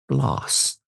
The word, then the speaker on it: Gläce: I will make it so that those that know understand that it's pronounced gloss like lip gloss and not gloss or gloss or whatever."